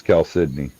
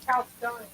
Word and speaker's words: chalcedony: She said it right. She always tries to say it's Cal Sydney. Because it is. It is Cal Sydney. You just said Cal Stoney.